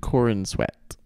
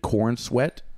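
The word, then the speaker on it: Corenswet: worried about it David Corin sweat David Corn sweat I don't think it's corn let me see if I pronounce it Corin Corin sweat Corin sweat Corin sweat okay David Corn swag David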